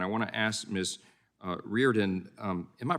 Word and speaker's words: Reardon: Reardon, am I pronouncing that right? What's the right pronunciation? Thank you. It's Reardon.